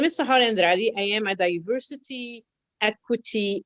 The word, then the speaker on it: Sahar Andrade: Our very special guest today is SAHAR ANDRADE. Now, please tell me if I mispronounced that. Actually, it's correct. It's SAHAR ANDRADE.